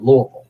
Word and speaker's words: Louisville: it but the local people the locals said louisville so you're saying it correctly there you go